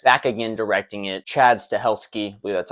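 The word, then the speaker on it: Stahelski: in this franchise back again directing it Chad's to helski that's how you pronounce it a phenomenal job of this movie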